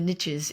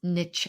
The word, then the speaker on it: niche: riches are in the niches if you decide to pronounce niche that way instead of niche.